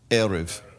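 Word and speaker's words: ערב: means to mix or dominguez but here it's pronounced erev because that's the evening so why is the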